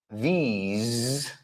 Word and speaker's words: these: These. Ahora sí que es i latina y es el sonido z.